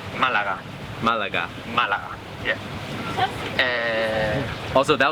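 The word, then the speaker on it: Málaga: It's pronounced Malaga.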